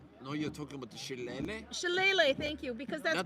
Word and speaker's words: shillelagh: I think that's actually we were talking about in the same week, so I learned how to pronounce that. It's chalet. No, you're talking about the shillelagh?